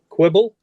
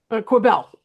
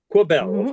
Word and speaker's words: Quibell: Quibble? Quibell. Quibell, of course. Yep. I mispronounced it.